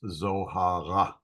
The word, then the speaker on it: Zohar: you hear some Hebrew the r is pronounced in like the back of the throat so uh my name in Hebrew would be shr uh this is Zohar not Zohar it's Zohar and also the I